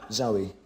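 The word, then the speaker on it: Zowie: Zoe.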